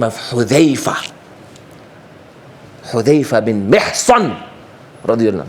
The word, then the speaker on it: Hudhayfa: Pronounce Sahaba's name correctly. Not a Za, but a Dhal. Sahaba's names. Hudhayfa bin Mihsan, radiyallahu anhu.